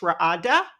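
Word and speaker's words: radah: Ra'ada, we can see it's pronounced here, R-A-D-A-H, Ra'ada.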